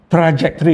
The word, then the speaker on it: trajektori: tre lah ya tak boleh tre lah trajektory lah senang tra trajor mari kita setkanlah trajektor traj trajektory itu jejak-jejak eh ataupun